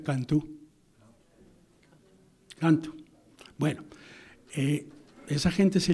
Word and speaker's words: Canto: Quiero decirles, si no lo saben, me imagino que lo saben, que en portugués C-A-N-T-O se pronuncia Cantú.